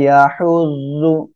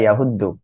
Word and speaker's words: يحض: অনেকে বলতে পারেন ওয়ালা ইয়াহুদ্দু, একটু খেয়াল রাখবেন, এটা কিন্তু দদ না ডাইরেক্ট, মানে আপনি ওই যে দাল পেশ দু এমন উচ্চারণ করবেন, এটা কিন্তু তা না, হ্যাঁ, এটা হলো জদ। ওয়ালা ইয়াহুজ্জু।